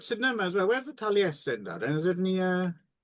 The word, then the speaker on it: Taliesin: Taliesin.